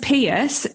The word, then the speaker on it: Peirse: And can I also say thank you so much for pronouncing my surname correctly, because it's pronounced Peirse just as you did it, but it's spelled really weird.